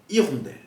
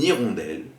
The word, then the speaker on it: hirondelle: En français, en début de mot, la lettre muette peut être un H muet, on peut alors faire une liaison. Par exemple, dans le mot hirondelle. Ainsi, on prononcera une hirondelle ou des hirondelles.